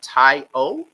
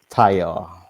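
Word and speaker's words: Taiwo: up your name anymore is it tai o did i say it right that time taiyo okay great yeah andrew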